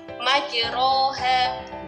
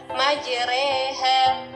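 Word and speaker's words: مجراها: Ya, di sini tulisannya, kalau dalam tulisannya ya, di sini adalah majroha. Ya, majroha. Tapi karena ini bacaan imalah yang harus dimiringkan, maka cara membacanya adalah majreha.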